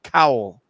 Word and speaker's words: Cowell: Maybe Simon Coldwell is a different person. Simon Coldwell would be a different person then, because Simon Cowell. Coldwell, and it's No, it's America. him. America's Got Talent. That's how you spell it. Oh, there's no D in it, but I'm No, it's educating the wait, youth. Wait, no, that is spelled wrong in the article. It is Simon It's, Cowell. it's spelled wrong in the article. C-O-W-E-L. So, Matt, I apologize because